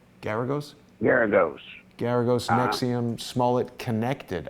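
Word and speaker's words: Geragos: How do I pronounce his name? Garagos?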